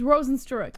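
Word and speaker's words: Rosenstruik: It's because we met his fucking brother and he told us how to pronounce it. Jesse, I'm banning cursing from this show. It's stupid. He straight up told us it's Rosenstruck.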